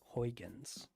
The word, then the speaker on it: Huygens: Huygens. Yes, correct pronunciation.